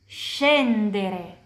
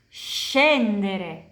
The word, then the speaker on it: scendere: Kalau ini, scendere. Scendere. Turun. Jadi, she dan she itu kayak bahasa Inggris. Kapan kita bicara bahasa Inggris dan lihat S dan H, itu pronunciasinya kayak SCI dan SCE di bahasa Italia.